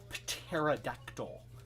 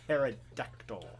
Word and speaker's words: pterodactyl: turn them into a pterodactyl a pterodactyl uh i'm over enunciating the p it's a silent p and uh you know